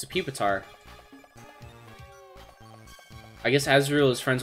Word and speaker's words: Pupitar: mandela effect for you was pupitar originally green his name is pew beater no though i guess that phonetically makes sense you have a poor